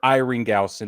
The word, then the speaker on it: Isringhausen: Jason, it's either Isringhausen or Iringhausen if the S is Isringhausen. Yeah, Isringhausen.